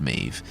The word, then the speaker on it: Medb: sorry about that there are other changes like Mev actually being pronounced mave there are some characters that won't make another